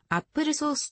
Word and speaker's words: Apple SOS: apple 3 では apple sos アップルソースと発音すると呼ばれる改良